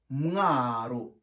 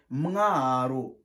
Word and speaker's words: Mwaro: On prononce Mwaro. Répète, Mwaro.